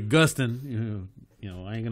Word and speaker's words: Gustin: It's supposed to be Gustin.